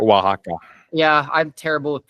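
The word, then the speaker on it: Oaxaca: Was it oxa? Is that correct? Wajaka. Yeah, I'm terrible with pronouncing these things.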